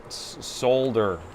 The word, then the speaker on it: solder: Sundays is when I have to pronounce the L, because I have a lot of people across the pond.